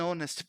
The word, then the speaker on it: honest: reason we say an honest person and not a honest person because the letter H is a consonant but in that context is silent so the word begins